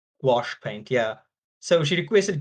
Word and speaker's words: gouache: it um gouache sorry I'm saying it wrong wash wash yes wash paint yeah so she